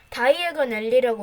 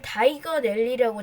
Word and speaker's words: 다이애건 앨리: 다이애건 앨리라고 외치면서 플루 파우더를 떨어뜨리면 순간이동이 가능합니다. 하지만 발음을 정확하게 해야 됩니다. 론은 성공했습니다. 하지만 해리는 다이건 앨리라고 잘못 말해서 다이애건 앨리로 안 오고 녹턴 앨리로 순간이동했습니다.